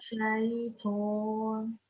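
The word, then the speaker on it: شيطان: The letter Ta, make sure that we don't round it. It's a thick letter. Again, we have to round our lips, but it should just be pronounced as Minash Shaitan.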